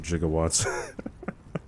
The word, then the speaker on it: gigawatts: still find it funny how they pronounce it jigawatts gigawatts dude would it be alive